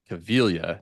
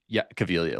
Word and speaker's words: Caviglia: Jessica Caviglia, that's how you say her name, instead of Caviglia. But anyway, Caviglia, like Italian.